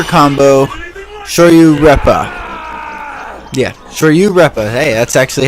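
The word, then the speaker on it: Shoryu-Reppa: uh the super combo sh you repa yeah sh you repa hey that's actually how you say it which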